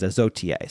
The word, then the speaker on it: Isautier: Izotier, that's what it is, Izotier. So it's Isautier. Many thanks to Rum Revival for the proper pronunciation of Izotier.